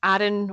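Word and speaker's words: Aron: the true story of Adhan or Eden depending how you pronounce it Ralston who was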